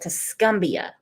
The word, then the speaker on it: Tuscumbia: their Saturday afternoon here at Spring Park in Tuscumbia. Wow, that's pretty. Listen to all those bugs and everything. Dang, that's pretty. And I pronounced it wrong. Crystal has to set me straight. It's called Tuscumbia.